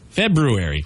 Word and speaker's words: February: in there it's not a silent R there's two RS actually but it's the one after the B February how about the fruity